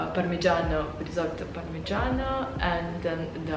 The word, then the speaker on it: parmigiano: I just can't pronounce it in the right way because it's pronounced in Italian. I think it's called parmigiano, risotto parmigiano, and then the other one is the cacio and pepe.